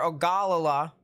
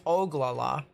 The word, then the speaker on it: Ogallala: a storm over there near ogallala the oglala actually it's oglala and um yeah i